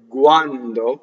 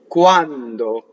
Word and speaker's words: quando: So if I were to say quando with the G, right? That's not right, but that's just for demonstration. Now, if I keep all of that beautiful voice characteristic of the G and make it a K, quando, not with lots of air, but quando, not quando,